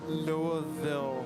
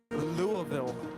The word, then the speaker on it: Louisville: great job on drums no it's not lewisville that's really bad okay now